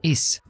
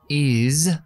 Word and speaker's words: is: ejemplo the same la s muchas veces en inglés se pronuncia como una Z digo una Z la